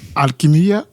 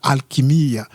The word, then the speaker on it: Alquimia: Alquimia. Voilà. Prononcé correctement en portugais, c'est ça. Alquimia.